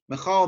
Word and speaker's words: Michael: So for example, the angel Michael Michal, by the way, is how this is pronounced, and he is known with specific powers that were given to him for specific missions.